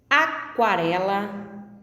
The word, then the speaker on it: aquarela: Aquarela, aquário, quadro. A letra U é pronunciada aquarela, aquário e quadro.